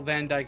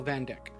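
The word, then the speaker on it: Vandyck: He's the only one who says the principal's name accurately in this game. Everyone else will pronounce Principal Van Dyke as Principal Van Dyck. I think it's not until Cold Steel 3 where everyone properly pronounces his name.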